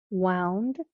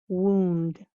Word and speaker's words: wound: well wound wound wound you see there spelled the same but the sounds are different so oh you can sound like ow wound or ooh wound wound wound wound wound okay